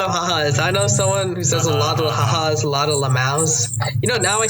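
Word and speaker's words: LMAO: ha-has, a lot of lamaus. Now I say lamu instead of lamau, just to piss off the lamaus. Yeah, lamu. That's because the thing is, this person mispronounced lamau once as lamu, and I was like,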